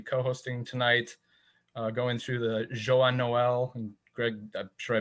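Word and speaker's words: Joyeux Noël: We're going to be co-hosting tonight, going through the Joyeux Noel. And Greg, I'm sure I butchered that in French. How do you pronounce it? Joyeux Noel.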